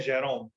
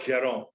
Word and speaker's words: Jerome: See, the narrator is Jerome के Jerome, and we call him as Jerome. Few people will also call it as Jerome. Okay, but either ways, the pronunciation is okay.